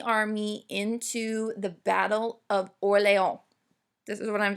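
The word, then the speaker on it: Orléans: If you want to put an English spin on, you can say Battle of Orleans. I know we're used to seeing New Orleans. Okay, true French pronunciation would be Orleans, but whatever.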